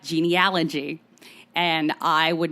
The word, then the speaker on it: genealogy: So Americans pronounce the A in genealogy much in the same way that Aussies pronounce the A in aunt, like aunt. Yeah. Genealogy. Genealogy.